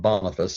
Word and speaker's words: Boniface: Boniface, or St. Boniface as he's more correctly pronounced, involves and is concerned with a mission